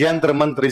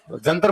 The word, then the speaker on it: यंत्र मंत्र: हमारे लोग इसका सही उच्चारण नहीं कर पाते थे। यंत्र मंत्र। तो हमारे लोगों ने इसे किस चीज में बदल दिया? जंतर मंतर।